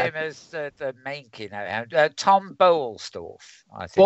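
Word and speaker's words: Boellstorff: Tom Bolstorff, I think. Bolstorff, yes. That's how you pronounce it.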